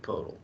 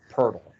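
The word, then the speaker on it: Pöltl: hoping you'd say jacob podell no it's not it's puts some respect on his name it's not jacob podell it's a purple that's how you pronounce it all right anyways um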